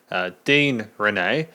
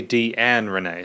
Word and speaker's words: Deann Rene: In this review, I've said Deann Rene. It's actually Deann Rene, so Deann Rene.